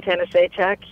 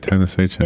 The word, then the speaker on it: Tanasichuk: One of the hardest parts of writing the book was learning to say Tanasichuk, you know. Oh, that's how you say it, Tanasichuk.